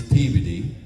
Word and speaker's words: Peabody: It's Peabody.